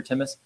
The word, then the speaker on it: Timus: lot of questions about is it timus is it thus you know tell me about how to pronounce the company name and where the name come from and there's a there's a gland in the in the thyroid called the thus gland which helps with immunity